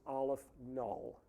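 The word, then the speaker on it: aleph-null: aleph the subscript is zero and that is pronounced aleph null which is a symbol for a certain level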